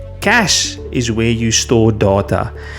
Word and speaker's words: cache: The e at the end is silent. We do not pronounce it.